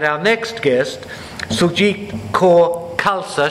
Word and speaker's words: Khalsa: next guest suit cor KSA she said it's pronounced like salsa and I was scared